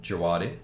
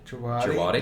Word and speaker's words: Djawadi: I think I go Ramin Djawadi. Djawadi? Like the silent D.